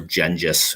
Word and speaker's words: Genghis: So there's an image in the west of Genghis, or Gengis, as you saw, listen to the video. It's a proper way to kind of pronounce it.